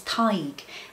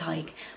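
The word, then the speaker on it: Tadhg: And my most favorite Irish name ever is Ty. and I have a brother called Hy, but it's spelled T A D H G.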